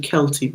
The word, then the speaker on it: Celt: And yeah, it's really, Celtic, Celt is actually Kelty, but spelt with a K.